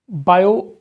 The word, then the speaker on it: Biot: है बायो सवास लॉ बायो पहले इसको पढ़ना सीखो बायो इसमें टी साइलेंट है बायो इसमें टी साइलेंट